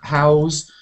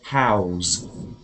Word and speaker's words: house: like how's your father how house and house but instead of saying house i say house houses it could be um what is it um a different word how house with an s house is a noun if i say house it's a verb house so if you provide accommodation for people you house them how's them yeah okay